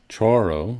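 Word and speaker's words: coro: subject of the sentence choro with that cha sound that's how we pronounce that c in pali choro ni kamati leaves and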